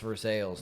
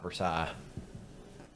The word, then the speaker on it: Versailles: yeah it's bull I think and uh it's pronounced for sales not Versailles well it is for sales that's the French